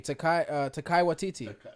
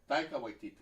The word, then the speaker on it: Taika Waititi: Oh, the guy who directs like the last Thor movie, Takai Waititi. Yeah. That's a I don't mouthful. think that's how you for a pronounce name.